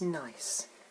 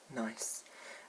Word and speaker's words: gneiss: that i'm talking about is nice it's not spelt the usual way it's spelt g-n-e-i-s-s after the rock nice and i've just got